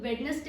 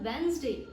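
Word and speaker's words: Wednesday: इस वर्ड को हम लोग वेडनेसडे नहीं बोलते हैं, जो कि डे ऑफ द वीक कहलाता है। This is called वेंसडे। तो आप लोगों को इसको प्रोनाउंस करते वक्त इस तरीके से इसको इस्तेमाल करना है while spelling it अप, वेंसडे। So this is the right pronunciation for this day ऑफ the week.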